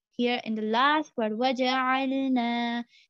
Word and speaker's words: وَجَعَلْنَا: And then here in the last word, waja'alna, here there is alif madda, which is before alif, there is fatha, which means that it is alif madda. We are going to extend it for about two counts, as in two harakah.